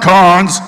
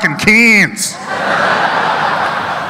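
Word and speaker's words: Cairns: They're like, "It's not cons, it's cans." As in drinking cans of piss, mate.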